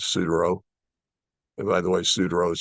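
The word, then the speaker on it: Suduiraut: And by the way, Sudereau is spelled Sudiraaut.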